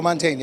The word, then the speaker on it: Mantegna: mantegna right i am did i say his name right joe montana absolutely correct all right so how